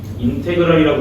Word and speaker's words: 인테그랄: 다시 인테그랄이라고 읽고요.